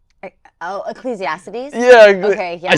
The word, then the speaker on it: Ecclesiastes: And, um, I always pronounce this wrong. What is it? Excalatiius. Oh, Ecclesiastes.